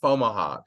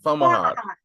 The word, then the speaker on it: Fomalhaut: So like I say it like Camelot, Fomalhaut, right? Fomalhaut.